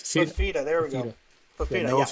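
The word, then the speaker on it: Fifita: Is that how you say his name? Fafita. Yes, Fafita.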